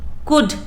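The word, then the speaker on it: could: है, डाउट, इसमें बी, कुड, you silent है, और वॉक में एल, और वॉक में एल साइलेंट है।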